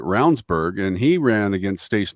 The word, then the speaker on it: Ravnsborg: But if they don't pay attention, I mean, Ravnsborg, who was our AG, his name is actually spelled Ravensborg. Yes. But it pronounces it Ravnsborg, and he ran against